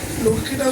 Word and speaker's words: লক্ষ্মী: মাতা লক্ষ্মী দেবী, আমরা বাংলা ভাষায় লক্ষ্মী বলি, লক্ষ্মীটা শুদ্ধ উচ্চারণ না, লক্ষ্মী।